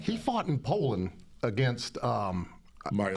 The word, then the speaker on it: Mariusz: Mariusz.